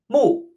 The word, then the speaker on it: 木: And note its pronunciation is the exact same as eyeball, which we see under kan. 木.